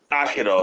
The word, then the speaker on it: Aikido: No, Aikido. Aikido, that's how it's pronounced.